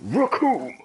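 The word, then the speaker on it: Recoome: Because yeah, the right, name's Raccoon, and it rhymes with doom, and you're gonna be hurting all too soon.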